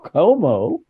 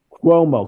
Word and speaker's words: Cuomo: their former host Chris Como ah you said it wrong quomo quomo CUO yeah quomo quomo you got to be New Yorkers Cuomo who gives an